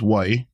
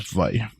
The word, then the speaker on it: wai: sound for that but you can also use why with the w but mostly what I hear is V uh in Havi you